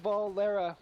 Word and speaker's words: Valera: And I'm sorry ladies and gentlemen, it's pronounced Valera. We have been pronouncing it wrong the entire game.